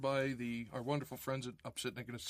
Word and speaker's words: Opsitnick: Hard last name, but it's spelled exactly like it's pronounced.